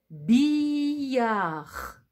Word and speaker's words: billard: Grâce à la syllabe bille, vous écrivez le mot billard, billard, billard. Et à la fin de billard, il y a un D qu'on n'entend pas.